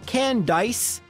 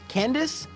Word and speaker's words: Candice: can dice what's that what's that 12 year old me it's pronounced candace no not every candice spells their name with an a and even though it's a pun on ice it's still pronounced candace okay sure let's battle